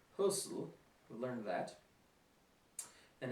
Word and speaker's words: Hösl: It's pronounced Hösl.